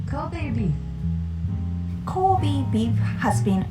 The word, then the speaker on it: Kobe: Was inspired by Japanese word because we pronounce it Kobe, not Kobe.